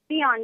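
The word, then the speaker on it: Tsion: Sion, because it's easy to read, but there's a T up front. Oh, okay. Like Sion. Sion. T All is right. silent.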